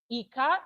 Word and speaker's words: Ika: Eka is pronounced just the same way I said e E like you say e for egg then k will be when you say kite so you have e as in egg and k as in